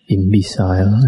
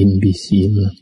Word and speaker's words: imbecile: The last talk I mentioned, I read imbecile. Actually, it should be imbecile. Imbecile is a fool, a stupid fellow.